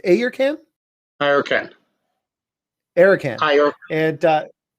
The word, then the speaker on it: Ayurcann: from uh it's it's it's pronounced a your can i okay eric and